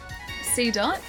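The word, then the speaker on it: Seedot: C dot. So it is like pronounced like dot.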